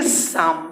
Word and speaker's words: psalm: अब इसके बाद PSALM, PSALM, इसको पढ़ेंगे साम। साम मतलब भजन होता है, साम। पी साइलेंट है, यहाँ पर एल साइलेंट।